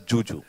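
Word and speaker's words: Zhu Zhu: she's it's written as it's written as zuu but she pronounces it as Juju yeah whatever I mean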